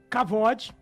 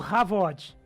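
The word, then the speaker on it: כבוד: Porque a palavra glória, ela pode ser essa pronúncia que o Zé até comentou aí, sendo uma palavra kavod ou havod. Pode ser essa variação, tá? Entendi. Ela pode ter essa variação de kavod, havod.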